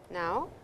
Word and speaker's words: ん: Now, we have m. This is the last syllable of the 46 syllables in the first set. It's the sound of n, which you will see in minasan or Remon.